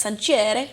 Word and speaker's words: Sancerre: For me, it's a bottle of Sancerre, but you know, I think it's actually pronounced Sancerre.